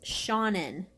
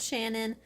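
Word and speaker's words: Seanan: how to pronounce it it's Sean in Sean in Sean and Sean and McGuire not Shannon that was close though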